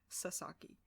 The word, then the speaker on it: Sasaki: camera say his name Christopher Sasaki not Chris I sake it's Chris Sasaki anyways he is a